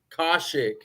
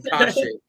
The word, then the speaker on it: Kaushik: Name is Kaushik. Kaushik. Yeah. How do you say your last name? So I got that one right, but the Yeah. first name, Kaushik. Yeah.